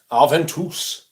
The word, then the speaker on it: Aventus: Aventus. It's apparently how it's meant to be pronounced.